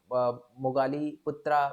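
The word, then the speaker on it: Moggaliputta: ठीक है, आपको याद रखना है बस, मगाली पुत्ता पुत्ता भी बोला जाता है इनको। ठीक है, मोगाली पुत्ता बोला जाता है, या मोगाली पुत्रा भी बोला जाता है इनको।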